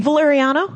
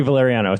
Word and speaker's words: Valeriano: VaLARiano? Yes, VaLARiano.